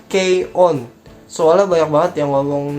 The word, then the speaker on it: K-ON: ini adenya anime ini dibacanya itu bukan cone ya tapi key on soalnya banyak banget yang